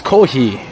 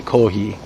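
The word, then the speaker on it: コーヒー: It's Kohi is usually how they do coffee. Kohi, because there's the F sound is more like an H here.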